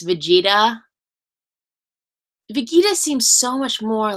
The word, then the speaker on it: Vegeta: when I found out that that it's not vegita it's Vegeta vegita seems so much more like ra anyways